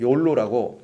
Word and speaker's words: YOLO: 욜로가 뭐냐면 YOLO를 발음하기를 욜로라고 발음을 하는데 줄임말입니다.